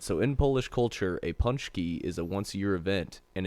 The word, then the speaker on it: Pączki: What does Pączki mean in Polish?